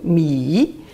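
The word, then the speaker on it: 米: Par exemple, mi, celui-là, mi, troisième ton, mi, ça signifie le riz.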